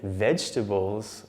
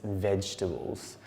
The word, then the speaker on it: vegetables: If you said vegetables with 3 syllables, you were correct. Of course, it looks like there are 4, but that second E is actually silent, so it's vegetables.